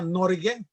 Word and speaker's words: Norge: El nombre oficial en noruego se pronuncia Norge.